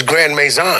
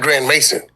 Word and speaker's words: Grand Maison: So it was Grand Maison, not Grand Mason.